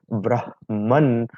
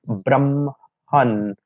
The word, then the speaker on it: brahman: sometimes is said that in the word brahman, so the ma has to be pronounced first and then ha.